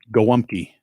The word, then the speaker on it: Gołąbki: When you look at how it's spelled, it's not spelled like it sounds because it's Polish, and we don't do shit normally. It's spelled Golabki, like Golabki. How do you say it? Gołąbki.